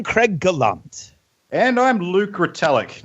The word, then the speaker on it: Retallack: Luke's last name is Metallica with an R instead of an M and drop the A.